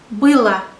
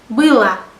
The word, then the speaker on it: было: And for neuter nouns we use было. There is O letter in the ending, but it is pronounced like A, было, because I is stressed.